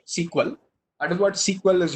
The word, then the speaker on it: SQL: that is what sequel that is sq exactly pronounced sequel out of what sequel